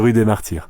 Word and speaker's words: Rue des Martyrs: The only Street in Paris life on the rud de Mar how's my pronunciation James that's pretty pretty good you say it always sounds better from a from a native it's the rud de Mar I've actually got a question for you um